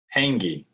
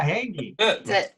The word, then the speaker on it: Hankey: your last name correctly how do you say it hangi that's it yeah hanky kelsey and brian hankey